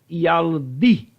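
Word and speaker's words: ילדי: E aí a pronúncia fica yaldi.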